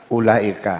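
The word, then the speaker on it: أولئك: Ini bacanya apa ini? Ulaika.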